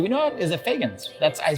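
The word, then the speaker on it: Feagins: Is it Fagans? I pronounced it correctly.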